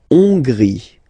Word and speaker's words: Hongrie: La Hongrie. So remember, H doesn't exist, so you don't pronounce it. So it starts with O-N, on, and then gris, final not pronounced.